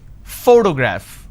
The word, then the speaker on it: photograph: pronounce this particular word photograph the correct pronunciation is photograph which means i am stressing on this particular syllable which is the first syllable please give me the